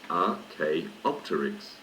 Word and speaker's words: Archaeopteryx: pterosaurs are alike page 16 Archaeopteryx Archaeopteryx is pronounced RK optics it's name is from Greek meaning ancient feather Archaeopteryx is the first of the true birds dinosaur